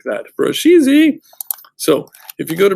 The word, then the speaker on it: Brusheezy: And yes, in order to get it, you have to say it like that, Brusheezy.